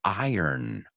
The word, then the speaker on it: iron: North Northeast we say iron iron iron money and iron clothes iron iron so interesting word there now remember some people say too iron iron because they don't pronounce the r many British people say